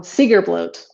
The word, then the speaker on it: Seidrblót: Um, Seidrblót.